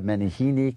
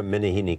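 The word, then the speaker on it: Meneghini: And her name, in Spanish, the announcers called her Maria Menehini Callas. Maria Menehini Callas. Yes, because that's their pronunciation.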